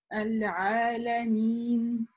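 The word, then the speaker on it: ٱلْعَٰلَمِينَ: И опять же, не мины, мины, да, то есть часто нун вот так вот быстро отрывается. Нет, у нас мин. Придерживаем махрадж, место произношения, и звук как бы завершается через носовую полость.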